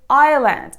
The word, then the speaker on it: island: they are I and Island in these two words letter s has no function I don't know why